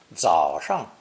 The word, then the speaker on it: 早: Pronounced third tone, 早, 早.